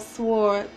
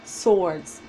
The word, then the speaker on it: swords: has the eight of swords your partner has the hangman somebody was getting on me about saying wards and time I just don't pronounce the W just saying swords swords swords I say